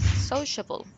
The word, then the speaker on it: sociable: Sociable. Sociable, Sociable. mark, sociable, So, the first syllable, this one is so, so.